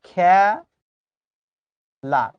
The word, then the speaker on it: খেলা: কিন্তু যখন তুমি বাস্তবে উচ্চারণ করছো। দেখতো উচ্চারণ এরকম করছো কিনা। খে লা খেলা। তাই বলে আবার খালা উচ্চারণ করো না কিন্তু খেলা তাহলে আমি